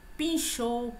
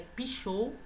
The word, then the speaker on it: pichou: Pinchou, pinchador, também eu não tenho este N aqui. É pichou, tá?